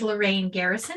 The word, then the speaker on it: Lorran Garrison: jam for unwinding right once again this is lorraine garrison of little brainstorm just wanted to pronounce my name correctly there for the folks